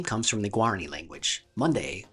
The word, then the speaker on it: Monday: Monday, spelled like Monday, the day of the week, but pronounced as Monday, means something like stolen river or water that steals.